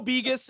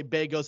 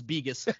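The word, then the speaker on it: Begos: wow okay listen Joe bigas and that's how you say it by the way a lot of people say Vegas it's biggest yeah he knows what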